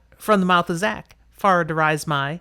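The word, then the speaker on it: Far Dareis Mai: Yeah, far darais my. Okay, you got it. From the mouth of Zach. Far darais my.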